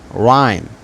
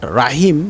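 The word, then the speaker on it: rhyme: না হবে সরি হবে তবে এইচ উচ্চারিত হবে না যেমন রাইম নট রাইম রাইম নট রাহিম বা ইত্যাদি কোন উচ্চারণ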